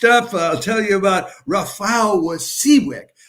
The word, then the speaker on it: Rafał: Okay, next up, I'll tell you about Rafał Wasiłek, R-A-F-A-L with a slash through it, and that's pronounced like a W in Polish.